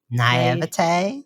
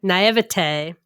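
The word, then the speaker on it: naïveté: Naivete. Naivete.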